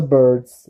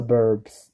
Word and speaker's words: Burbs: Burbs, the Burbs, not the birds, the Burbs, like suburbs.